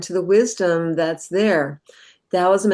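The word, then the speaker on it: Taoism: Dowism and Dowist concepts could also be spelled with a T. Towism.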